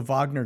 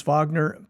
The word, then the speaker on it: Wagner: Wagner paramilitary group okay I pronounce it Wagner the W is really a v it's German it's uh it's it has germanian uh Roots okay that's where that surname comes from so it is no